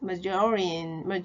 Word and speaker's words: margarine: 그때 메이어네이즈 발음도 알게 됐죠? 마요네즈 마가린 아니고요. 메이어네이즈 마조린 큰 소리 따라 해봐요.